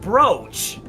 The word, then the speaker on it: brooch: It's spelled It's pronounced brooch. Oh, no. We're Oh, boy. Yes. It's a brooch.